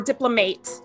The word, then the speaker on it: diplomate: So in order to become a diplomate or diplomate, I've learned is the proper pronunciation. In order to become a diplomate of the ACVB, one, you have to graduate from an accredited vet school.